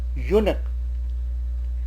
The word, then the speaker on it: eunuch: Another word, eunuch, it starts with e but the pronunciation is u, so a eunuch.